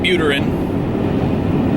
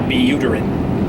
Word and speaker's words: Vitalik Buterin: And Vitalik Buterin, or Buterin, I like Buterin better, but it might not be the way that you're supposed to pronounce his name.